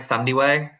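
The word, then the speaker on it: Thandiwe: I hope I'm pronouncing it right, Thandi Way, Yeah.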